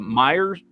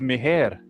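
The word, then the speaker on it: Meijer: When I got here, swear to God, the way it's spelled, I thought it was Meher.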